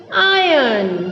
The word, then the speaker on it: iron: हमको आर को नहीं पढ़ना है, उसकी जगह पर जो वॉवेल है उसको हम खींच के पढ़ेंगे।